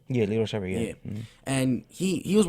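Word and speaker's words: Lito Sheppard: Are we pronouncing his name right? Yeah, Lito Shepherd, yeah.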